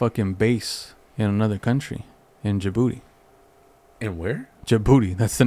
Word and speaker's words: Djibouti: it it's spelled differently d-j-i-b-o-u-t-i but how do you pronounce it uh let me see i've heard people call it djibouti i've heard people call it your booty i think that d is silent it is yeah